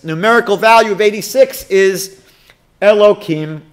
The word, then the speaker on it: Elohim: value of 86 is elokim god or elohim would be the way you say it properly aleph is one laminate is 30.